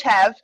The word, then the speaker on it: Hev: yep yeah perfect okay so i'm coach hev if you weren't sure how to pronounce that um my my name is but my siblings wouldn't pronounce that th so well and so it kind of came out as heaver and then a couple